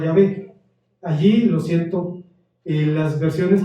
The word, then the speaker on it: Yahvé: En la segunda se utiliza el nombre impronunciable de Dios, que se pronunciaba Yahvé.